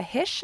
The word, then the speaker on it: Hische: name which is is Jessica hish and hish is spelled h i s c h e on Instagram or Twitter